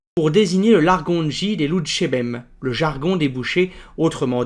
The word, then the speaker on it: louchébem: Le mot peut être légèrement modifié pour une meilleure prononciation. On a ainsi enlevé le R de Loutcherbem, ce qui donne Loutchébem.